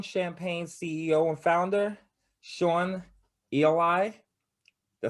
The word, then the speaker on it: Eli: really my middle name eli rhymes with free pie but we don't have